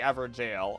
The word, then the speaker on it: Evergaol: Like the Evergaol, which is the Ever Jail. Okay. Which is actually pronounced Ever Jail.